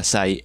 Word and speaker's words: Acai: Pero tiempo después, un youtuber de Clone Hero conocido como Asai, sí, se escribe Akai, pero se pronuncia Asai, él mismo lo dice. Oh, but Asai.